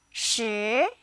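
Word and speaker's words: 十: number 10 in chinese she it sounds like the word shirt without the tea now say it with me sure once more how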